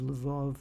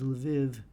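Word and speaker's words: Lviv: So you had areas of western Ukraine uh which now has this the city of Lev or the the uh Ukrainian pronunciation of it is Leviv and there is other other areas that um there the language is related to Russian.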